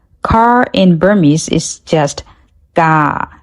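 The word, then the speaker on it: ကား: Car in Burmese is just ga. Just pronounce it without the r sound at the end.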